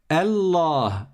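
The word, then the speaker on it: الله: Donc on dit Allah et on prolonge.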